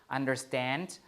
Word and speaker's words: understand: Understand, the root is stand, so you put the stress there, and believe, the stress is here, live, right?